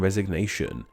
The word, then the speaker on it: resignation: As a verb, the G in resign is silent, while as the noun resignation, the G is not silent.